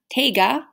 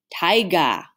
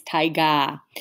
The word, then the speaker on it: taiga: biome is pronounced not take a taiga sounds like tiger but it's taiga it is our largest